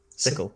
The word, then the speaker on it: Cicle: But it's CICLE, isn't it? That's how it's spelled. Sickle.